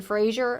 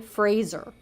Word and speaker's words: Fraser: Fraser like Razer so I've seen a lot of people including a lot of like talk show hosts say Brendan Frazier but it's actually Brendan Fraser and he said that himself so I'm rooting for